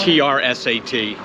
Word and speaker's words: Trsat: How would you pronounce it? I don't. T-R-S-A-T.